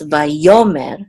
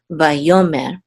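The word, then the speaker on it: ויאמר: And the trope mark here is on the second syllable, so it's vayomer, not vayomer, but vayomer.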